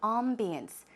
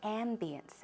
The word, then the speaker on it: ambience: A-M-B-I-E-N-C-E. 발음도 약간 두 가지로도 가능한데요. I say ambience. It's closer to the French pronunciation, but closer to the American pronunciation. A lot of people say ambience, okay?